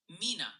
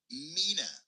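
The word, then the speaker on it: Mena: Multiple viewers are suggesting it's Mina, Arkansas, New Madrid, Missouri, and Oan County TN. Keep dodging those tricky names. Mina.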